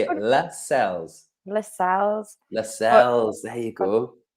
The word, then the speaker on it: Lascelles: It's Lascelles. Can we just say it? Lascelles.